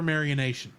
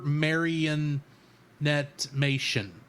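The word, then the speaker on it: Supermarionation: of Thunderbirds that's super Maran Nation Oh I'm saying it wrong super maranet mation I think is how you say that but it's basically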